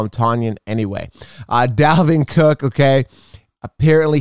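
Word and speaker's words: Tonyan: injury report he apparently says his name is pronounced tanyan i don't care i'm going to call him tanyan anyway dalvin cook okay apparently he's good to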